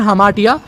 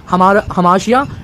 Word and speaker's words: hamartia: Cover करने वाले हैं, वो है हमाटिया, हमाशिया। ठीक है, जो भी आप प्रोनाउंसिएशन करना चाहो उस हिसाब से जो है कर सकते हो।